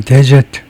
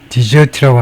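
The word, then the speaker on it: desert: 명사일 때는 데저트 데저트라고 발음하시고에 버리다 버리다일 때는 디저트라고 합니다.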